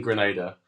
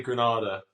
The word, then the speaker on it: Grenada: Thank you for saying Grenada because I honestly I've given up at this point. the amount of people who say Granada and for those who don't know Granada is